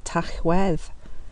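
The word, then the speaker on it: Tachwedd: of slaughter is literally they pronounce it tough well which literally means the month of slaughter in whale in Wales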